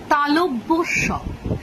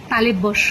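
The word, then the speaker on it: তালব্য শ: তালটাই একদম ছন্নছাড়া হয়ে যায় কেটে যায় আসল উচ্চারণটা হল তালব্য স এবং এর কারণ কিন্তু একটাই ঠিক আগের দিন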